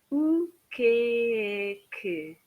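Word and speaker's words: o que é que: So I often say this sounds like the word cake if you've got a strong northern English accent.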